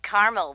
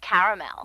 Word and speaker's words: caramel: that's what i said tina actually you said caramel when it's pronounced caramel can't we just call